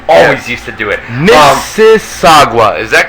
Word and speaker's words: Mississauga: Mississauga, is that correct, guys? Mississauga. That sounds how you pronounce it? Oh yeah, Mississauga.